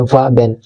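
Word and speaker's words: ouabain: वाबेन इसको हम प्रोनाउंस कर देते हैं वाबेन।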